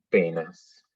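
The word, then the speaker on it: poenas: Fíjense que tenemos 2 diptongos, AE, OE, que en el latín eclesiástico se pronuncian E ambas. Entonces, tenemos en el primer caso el ejemplo celum y en el segundo penas.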